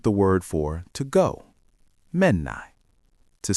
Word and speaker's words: Mennäänkö: To say let's go, we say menan. Say that for me. Menan. Good. Now, to make it a question, shall we go? The formal way is to add G at the end.